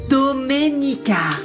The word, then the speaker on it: Doménica: Tu as du mal à prononcer mon prénom. C'est Doménica. Non, Dominica, arrête de l'énerver davantage, tu vas Je vais découvrir ce qui s'est passé avec ce titre.